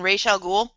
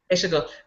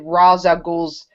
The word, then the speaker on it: Ra's al Ghul: Ra as in Ra's al Ghul? Yeah, Yeah. Rachel. Why did I say Raish. that? I cannot pronounce his name. Ra's al Ghul. Ra's al Ghul. Rachel Ghul.